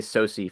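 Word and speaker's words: SOCE: oce pardon we just usually say soi for short soi that's how you say it all right soi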